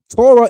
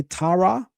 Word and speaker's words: Torah: But Torah do. If I change the vowels on this and say Tara, that's a completely different word in Hebrew.